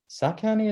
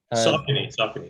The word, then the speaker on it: Saucony: Saucony, is that how you pronounce it? I think. What? Is it? Saucony, yeah.